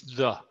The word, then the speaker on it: the: The pronunciation here is the. Porque these words empieza con un consonante. Pero cuando la palabra que sigue comienza con un vocal, se pronuncia como the. La letra E suena como, o la letra A en español, suena como un E en español. So aquí la pronunciación es the, E, the apple, the elephant.